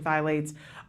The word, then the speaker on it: phthalates: to toxic chemicals such as pesticides and hormone-disrupting phthalates, is that how you say it?